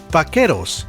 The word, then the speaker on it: vaqueros: Vaqueros, or the American pronunciation, vaqueros.